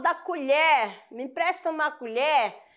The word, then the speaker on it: colher: tá bom a questão colher né e colher ó colher verbo ação o e vai ser fechado quando eu falo da colher me empresta uma colher o colher substantivo esse